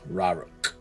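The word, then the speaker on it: Raurok: Rauruk.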